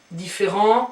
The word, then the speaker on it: différent: Différent, you don't pronounce the t here, but if you have a feminine version, then you add an e, so therefore you pronounce the t, so it becomes différente.